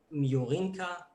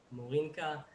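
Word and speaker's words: Morenika: We'll start with Miorinka, right? Am I saying it right? Morinka.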